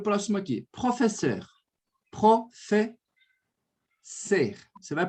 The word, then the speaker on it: professeur: Professeur. Professeur. Você vai pronunciar dessa forma. Professeur. Esse ser, Bia, você vai colocar um leve biquinho. Então, vai ficar assim, ó.